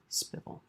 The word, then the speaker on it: SPVL: smoothest possible voice leading AKA spvl pronounced spel we want the smoothest